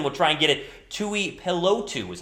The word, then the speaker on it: Tuipulotu: TUIPULOTU is how you say his last name, the defensive tackle out of USC.